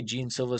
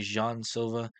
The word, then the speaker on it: Jean Silva: How do you say this guy's name? I say Gene Silva. Some people say Jean Silva.